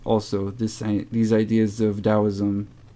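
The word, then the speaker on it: Taoism: or something like that so dosm that t is pronounced as a d and this could be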